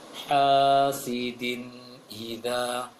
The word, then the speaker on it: حاسد إذا: sangat jelas juga tadi di ayat yang terakhir, hasidin idza, maka dibuka sedikit lagi, hasidin idza.